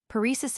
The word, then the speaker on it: paresis: Paresis illustrates the same tendency. The English accent the first syllable, but as Krapp says, American usage clings to the accent on the second syllable.